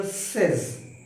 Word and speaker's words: says: Shakespeare सेज, said नहीं, SAID नहीं, सेज, SAYS।